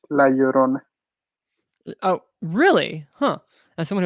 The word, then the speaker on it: La Llorona: you a spanish lesson whenever you see a double l together you have to pronounce it like a y it's la llorona oh really huh as